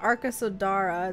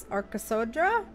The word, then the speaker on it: Arkasodra: Okay, so they pronounce it the Arkasodra. Like that A almost seems invisible. So it's not Arkasodara, it's Arkasodra? Arkasodra? Like that? Like it's very quick, I think.